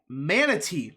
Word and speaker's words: Manatee: And also, he won Tampa by 3 percentage points, if you include places like Polk and Manatee.